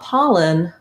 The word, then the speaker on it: pollen: word so for example if i'm thinking about pollen i might pair it with the word not or hot to get that ah sound with the word allergy